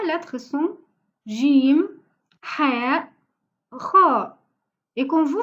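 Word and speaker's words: جيم: doit prononcer la lettre Jim comme ça, Jim. Parce que dans certains pays, comme chez nous en Égypte, on le prononce Gim. Mais pour lire le Coran, on doit prononcer Jim.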